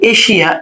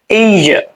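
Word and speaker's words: Asia: তো দেখেন এই যে এশিয়া, এটাকে আমরা উচ্চারণ করি কি? এইজা, এইজা, এইজা। নেটিভরা বলে কি? এইজা। আমরা বলি এশিয়া।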